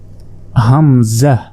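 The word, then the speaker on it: همزة: দেখুন এটা হচ্ছে হামজা এ হামজাতে কোন টান দেয়া যাবে না হামজাহ হামজাহ হামজাহ হামজাহ অনেকে হামজা বলে আসলে হামজাহ হামজাহ এরপর দেখুন ইয়া ইয়া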